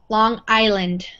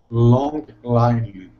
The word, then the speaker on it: Long Island: So this is, the S is silent. We don't say it. Long Island. Long Island.